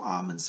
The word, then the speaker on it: Amen: like Amun-Ra, but he says, I'm Amun, A-M-E-N, Amun is how he pronounces it.